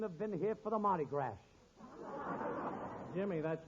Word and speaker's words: Mardi Gras: shame he couldn't have been here for the Mardi Gras Jimmy that's Mardi Gras the S is pronounced ah as in Patty de foie gras